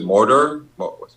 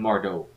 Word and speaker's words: Mordo: Okay, last thing I want to I'll speak about is Was it Mordor? How do you pronounce his name? Baron Mordo. Mordo.